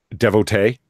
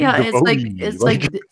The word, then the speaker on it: devotee: And I'm like, okay, but look at the way it's spelled. I'm not saying devotee. Yeah, that's right. Like with the double E's on the end, it would be devotee. It's like divorcee.